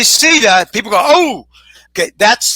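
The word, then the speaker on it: SIDA: got AIDS in Spanish it's called Steeda s-i-d-a you say see that people go oh okay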